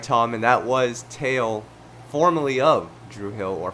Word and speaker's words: Tao: man before the podcast we didn't know how to pronounce his name specifically if it was towel or tail so we eventually got it right thank you for that